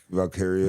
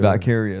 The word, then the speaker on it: Valkyria: Valkyria. Valkyria, there you go. I can't pronounce it and then Bailey.